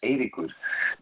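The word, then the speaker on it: Eiríkur: Yes, it is, because if I say my first name in Icelandic, it's Eirikur, but A is a sound that doesn't exist in Norwegian, so here they call me Eirikur.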